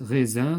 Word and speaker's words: raisin: Raisin se prononce Z.